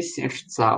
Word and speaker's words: сердца: Чудным младенцем полны все сердца. У нас ударение тоже на А. Ну, это особенность русского языка. Сердца, паруса, вот нестандартные случаи как это называется. Множественного числа, чаще всего ударение будет на А.